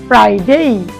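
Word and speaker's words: Friday: ওকে, দেন আমরা শেষে দেখলাম আমরা বলে থাকি ফ্রাইডে, এটা আমাদের ছুটির দিন, তো কিন্তু না, এটা বলতে হবে, আমরা এফ এর উচ্চারণ শিখেছিলাম, এফ, ফ্রাইডে।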